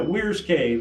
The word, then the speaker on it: Weyers Cave: And so I'm thinking we pronounce that Weyers cake. Well, if you eat Breyer's ice cream and didn't know any different, you'd be right. But What do you think?